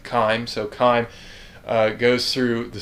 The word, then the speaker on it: chyme: So the stomach is eventually going to drop what's called chyme down, and I may be mispronouncing that as well, but that's correct, chyme.